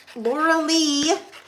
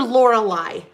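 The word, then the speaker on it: Lorlei: the picture again uh there are um both Laura Lee and I am I know this I know how to pronounce her name and I her name is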